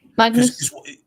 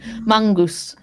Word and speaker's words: Magnus: with my Norwegian that it's more like mangus than it is Magnus.